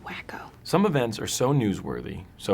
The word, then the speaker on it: Waco: What if it's another Waco? It's pronounced wacko.